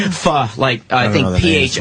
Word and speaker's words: pho: Pho? I love your face. What's it called? Pho. I think PHO is. PHO. Pho. Yeah. Oh, they don't pronounce it pho? No, it's like Vietnamese. They say pho.